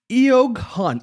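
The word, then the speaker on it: Eoghan: Yogan. E O G H A N is the spelling for those that are listening to the audio podcast.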